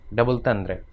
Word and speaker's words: double entendre: इसका give the word as close French pronunciation, you कैन डबल तंद्रे। एन इज नेस्टलाइज्ड, नेजलाइज्ड का मतलब नाक से बोला गया, आर is somewhat थ्रोटी and final syllable is barely ऑडिबल, ठीक है, मतलब वो